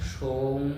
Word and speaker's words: সৌম: মন্ত্র জপ করবেন ওম সৌম সময় সোহা ওম সৌম সময় সোহা ওম সৌম দন্তস ও অনেক সৌম কিন্তু উচ্চারণটা হবে সৌম ওম সৌম সোমাই সুহা